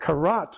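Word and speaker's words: כרת: is from the Hebrew word karat which means to cut and the reason I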